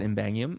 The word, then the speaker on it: Ymbangium: It's just treat the Y as an I and then read it. What do you think? Ymbangium.